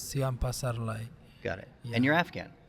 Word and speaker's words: Siam Pasarly: the the guess is C Paras I probably mispronounced your name you can call me c but the complete name is C Pasar got it and you're